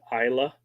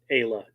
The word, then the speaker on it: Isla: most people pronounce it Isla. And if it's a double A, they say Ayla. But hers was single A, but she went Ayla anyway.